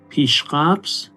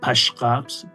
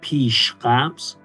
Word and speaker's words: Pishqabz: Pishqabz, not pashqabz, pishqabz. That's the way we say and we pronounce it in Persian.